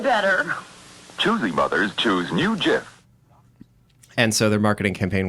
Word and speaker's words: GIF: which is Jif and they said it's pronounced like the peanut butter and we found there